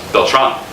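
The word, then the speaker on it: Beltrán: supposed to be pronounced felt wrong like there's an emphasis on the last so why would get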